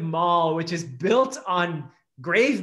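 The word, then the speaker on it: Moll: place called the lamentable city of mall is that how you say it rhyming with doll yeah m-o-l-l the lamentable city of maul which is built on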